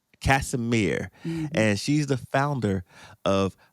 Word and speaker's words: Casimir: um Casemir Casemir and she's the founder of Powerful Petals and